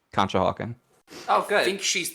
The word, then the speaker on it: Conshohocken: That's how you say it, Conshohocken.